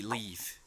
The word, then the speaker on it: leave: Es un poquito tricky, pero es una pronunciación distinta en cuanto a las vocales.